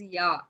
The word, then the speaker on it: ja: So it is ya. It is not ja. It is ya.